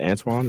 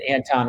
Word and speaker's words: Anton: I don't know how to pronounce his name, but is it Antoine? Is that how you say his name? Yeah, Anton Walker. Yeah, Anton.